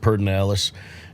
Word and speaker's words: Pedernales: has his own place it's pet pedernales everyone pronounces it perdonalis and uh there's marlin